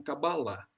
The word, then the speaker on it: Cabala: Quando eu estudei esse assunto com os judeus, eles pronunciavam Cabalá. Mas todo mundo pronuncia Cabala.